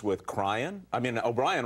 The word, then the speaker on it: O'Brien: I mean, O'Brien rhymes with crying.